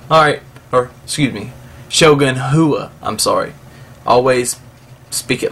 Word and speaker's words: Rua: Okay, so Johnny Bones, he completely dominated Rua. Alright, or excuse me, Shogun Hua, I'm sorry. Always speak it like it's spelled.